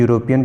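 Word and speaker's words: European: लगता है, ठीक है, क्योंकि यूरोपियन की जो प्रोनाउंसिएशन यानी उसका उच्चारण जो है वाई से होगा, यानी हिंदी में या से करेंगे यूरोपियन, ना कि यूरोपियन करेंगे, ठीक है।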